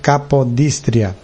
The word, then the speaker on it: Capodistria: que é a rádio aliás rádio capodístria ou acredito que é capadóstria seria mais eh mais cômodo a pronúncia, mas é rádio capodistria.